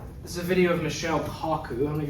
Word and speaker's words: Michio: Michio.